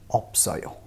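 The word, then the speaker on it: 없어요: Similarly इस वाले word में भी ये ऑप पढ़ेंगे इसको, क्योंकि इसमें स साइलेंट रहता है, प को प्रोनाउंस करते हैं, तो ये ऑप है, ऑप। तो technically it's ऑप एंड ओयो होना चाहिए, बट यहाँ पे जो फ है ये अपनी जगह पे रहेगा और स will be carried over to the next place और इसका प्रोनाउंसिएशन हो जाएगा ऑप्सोयो, ऑप्सोयो।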